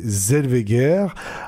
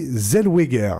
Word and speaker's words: Zellweger: Jones, c'est bien entendu René Zelveer. Alors non, pardon, René Zelweger, j'ai fauté. C'est apparemment comme ça qu'il faut prononcer.